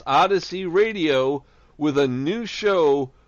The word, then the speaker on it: Odyssey: Eastern we will be on OD ysy pronounced odyssey radio with a new show for you to